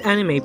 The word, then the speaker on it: anime: over japan anime the word anime pronounced as enemy it is an abbreviation